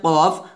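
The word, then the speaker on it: ك: ঠিক সেমভাবে কাফ হবে, তবে কাফ কিন্তু কফের মতো মোটা হবে না, কাফটা পাতলা হবে, কাফ, এভাবে।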